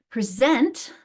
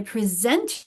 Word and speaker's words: present: So I'm trying to put that stress on the syllable. Notice the different stress. The syllable is in. We stress the syllable on the second syllable in the verb form, but we stress the first syllable in the noun form.